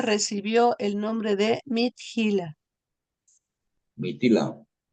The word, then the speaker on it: Mithila: Mitila. Mitil, es que tiene una H después de la T. Ah, sí, no se pronuncia Mitila, no Mitila.